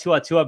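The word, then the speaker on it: To'oTo'o: we're one for two so let's talk about tuatua because he he's a PR we thought he'd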